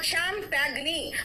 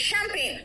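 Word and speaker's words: champagne: यार इंग्लिश पढ़ रहे हो तो इंग्लिश का प्रोनन्सिएशन होना चाहिए ना इसलिए क्या बोला मैंने मैंने कहा चैंपगगनी बट इट इज़ शैंपेन क्या शैंपेन लेकिन कैसे याद किया इट्स चैंपगनी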